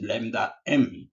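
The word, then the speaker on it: Λm: So this is pronounced as lambda M.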